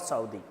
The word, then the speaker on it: Southey: Put the name of the poet, Robert Southey, R-O-B-E-R-T. The name of the poet, Robert Southey, S-O-U-T-H-E-Y, Robert Southey. Sometimes people pronounce Robert Southey, S-O-U-T-H-E-Y. You can pronounce both, Southey, Southey.